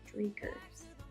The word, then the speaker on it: Dreikurs: I am medium high control, focused on Frederick Jones and Rudolf Dreikurs.